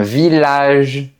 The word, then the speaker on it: village: Leurs dérivés aussi se prononcent de la même façon. Donc, on dira un millier un village tranquillement et cetera.